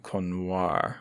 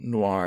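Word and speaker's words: Konior: Bratton Anna Greenspan and bogna cono or I realize now it's not Noir it's KO n i o r she's polish I'm afraid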